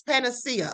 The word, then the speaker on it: panacea: Okay, I pronounced it right. It's panacea.